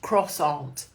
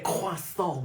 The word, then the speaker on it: croissant: Your English, it's pronounced croissant. Oh, that's right. There's a thing about people who say croissant like they're really French, isn't there?